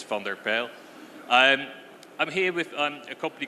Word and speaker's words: van der Pijl: Surname a bit more difficult, but if you really want to pronounce it, yes, it's van der Pijl.